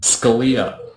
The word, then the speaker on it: Scalia: Scalia.